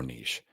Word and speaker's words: niche: are in the niches depending on how you you PR you pronounce the word uh I say Niche I put up a poll on threads and uh I asked people how do you pronounce this word and it was like 98% Niche uh something like that that messes up the rhyme the riches are in the niches that's true but it doesn't rhyme so I say the